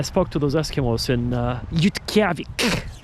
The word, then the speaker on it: Utqiagvik: I say, I spoke to those Eskimos in Utqiagvik. That's how they pronounce the town of Barrow, Alaska. They don't call it Barrow. That's the English name. They call it Utqiagvik.